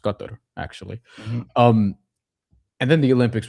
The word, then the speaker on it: Qatar: The FIBA World Cup is going to be next year in Qatar, which I believe is pronounced Qatar, actually.